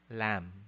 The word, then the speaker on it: lamb: common attribute your answer the answer is letter b the phoneme b is silent okay so this is again a common mistakes among filipinos it's not climbed no but rather the the phony peter is island climb calm subtle death lamb item number 44 which